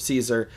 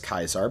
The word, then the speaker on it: Caesar: it Kaisar instead of Caesar, uh, one, in the games they do pronounce it correctly as Kaisar because in the original Latin it was Kaisar.